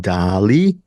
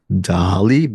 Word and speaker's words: Daaaaaalí: But the way this movie is spelled, it's Dali, not Dali. It's D with 6 A's, Li. Accent on the I.